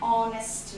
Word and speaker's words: honest: to r and r, here the letter H is silent, where we are pronouncing it with the vowel sound as o. An honest man.